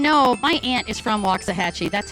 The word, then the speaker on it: Waxahachie: Brayton, just to let you know, my aunt is from Waxahachie. That's how I know how to pronounce that.